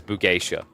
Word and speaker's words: Bugeisha: The Ona Bugeisha. But actually, I don't put enough emphasis on the gay. Because Bugeisha.